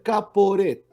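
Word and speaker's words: כפורת: La palabra propiciatorio en hebreo se pronuncia kaporet.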